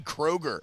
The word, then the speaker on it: Kroger: incredible special teams so Kai Kroger spelled like the grocery store getting to come down